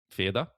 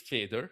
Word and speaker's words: Feder: Like, look, it's feder. Yeah. Right. And it's one way pronounced in English, but a feather in German is pronounced a little bit different.